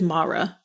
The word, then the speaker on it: Mara: and it is awesome it is it is mara i looked it up mara okay well i said it wrong in other episodes mara i'm so sorry yeah you're a beautiful human